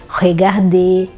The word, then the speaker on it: regarder: E a tendência é ler o R final.